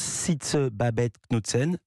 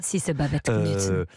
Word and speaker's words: Sisse Babette Knudsen: Il y a aussi une star planétaire au casting, donc l'héroïne de Borgen, moi je prononce Sisse Babette Knudsen, on dit Sisse. Sisse Babette Knudsen.